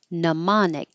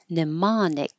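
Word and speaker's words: mnemonic: my second draft and neonic the m is completely silent we don't say it and the E here is not stressed so you can say no or ni neonic and Americans pronounce this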